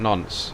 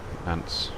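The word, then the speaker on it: Nancy: We've got nonce here, nance, how we pronounce it in your part of the world, but very French. Nonce.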